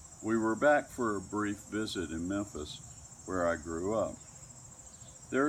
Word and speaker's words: Memphis: Not Memphis, the first syllable fully pronounced and ending with a rounded labial M, but more like Memphis, which you say quicker